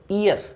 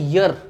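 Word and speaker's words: year: लेकिन अगर आप सही प्रोनाउंसिएशन करो इसकी तो ये ईयर नहीं है, ये है यर, यर, यर, यर।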